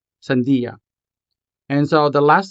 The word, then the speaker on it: sandia: Sandia has 3 syllables. San, di, ya. Sandia. And so the last syllable here, ya, begins with the letter Y. Therefore, this letter is a consonant. Sandia.